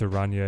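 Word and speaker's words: araña: work with Scarlet Spider it's Aria in Spanish so you got to put an emphasis on the end that you guys don't use in English so it's Aria right have I been saying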